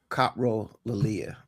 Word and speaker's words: coprolalia: Yeah, I think the correct pronunciation is Copro Lilia.